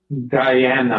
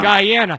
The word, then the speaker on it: Guyana: He was born in Guyana. Am I pronouncing it correctly? Guyana. Guyana.